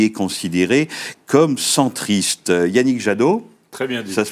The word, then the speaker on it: Jadot: 2014 et qui est considéré comme centriste Yannick jado très bien dit ça se prononce bien comme ça exactement volé ma vanne